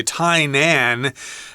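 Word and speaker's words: Tainan: again we're talking about tyon I should mention that some people may say tyan uh because that's how you pronounce that in English sometimes so be prepared for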